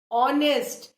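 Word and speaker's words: honest: है spelling H से, बट H silent है ना. आर्ट, ऑनेस्ट, ये सारे वर्ड्स हैं जिनमें कहीं भी कॉन्सोनेंट का साउंड नहीं है, वावल का साउंड है.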